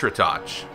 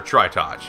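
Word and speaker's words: Tritoch: now we Face Off against retouch or try touch however you want to pronounce it I always pronounce it uh tritach I always preferred this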